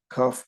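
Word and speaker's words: כף: The 7 letters is Beis, Gimel, Daled, Kaf, Pei, Reish, Taf. Beis we know, like Beis, you can say Beis and you can say Veis. Kaf, we know, kaf and chaf, pays, pay and fay.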